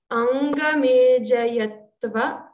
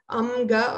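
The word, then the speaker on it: अङ्गमेजयत्व: It is daur manasya angamejayatva. Remember to pronounce nga here. It's not amga or anga.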